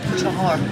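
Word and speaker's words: چهار: How do you say 4 in Persian? 4? Chahar. Chahar? Chahar. You gotta roll the R.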